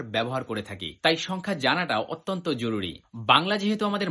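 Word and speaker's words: 十二: দুই হচ্ছে নি। এই দুইটা শব্দকে যদি একসাথে আপনি উচ্চারণ করেন জুনি। এই জুনিটাই হচ্ছে 12। একইভাবে আপনি যদি বলতে চান 15 জাপানিজে কি হবে?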